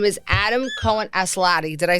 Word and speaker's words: Adam Cohen Aslatei: His name is Adam Cohen Aslatei.